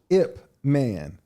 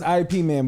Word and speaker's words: Ip Man: you watch it man who ip man that's how you say it ifp i thought it was iep man but it's yeah i oh